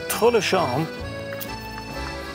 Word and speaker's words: Tré-le-Champ: I'm gonna pronounce the P because I like that.